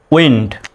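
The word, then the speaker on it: wind: দন্ত নয় ড উইন্ড তাহলে হয়ে গেল কি উইন্ড উচ্চারণটা হবে উইন্ড এই বর্ণটা কিন্তু এরকম ডাবল ইউ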